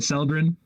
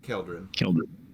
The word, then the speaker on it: Keldrin: How do you say it? Seldrin? Is that right? Keldrin. Keldrin.